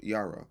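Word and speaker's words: יראה: To truly grasp this concept, we need to dig into the original language, particularly the Hebrew word yari, which is spelled yara, which is spelled y i r a h.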